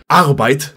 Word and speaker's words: Arbeit: Arbeit, or as it's pronounced in German, Arbeit, being the German word for work.